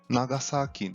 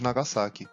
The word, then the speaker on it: Nagasaki: E o som do japonês representado pela letra S tem pronúncia com som de S mesmo, e não de Z, como muitas vezes ouvimos. Como por exemplo, a cidade de Osaka e não de Osaka, e de Nagasaki, não Nagasaki.